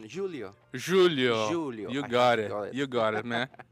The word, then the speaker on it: Júlio: I mean, I just heard the pronunciation, Julio.